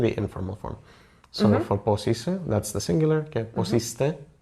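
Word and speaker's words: Πώς είσαι: Yeah, and I also heard about posite. Am I saying it right? Posise was... Posise? Yes, there is no T there.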